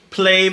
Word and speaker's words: Plave: Plave, am I pronouncing that correctly? Yes. Plave is the group.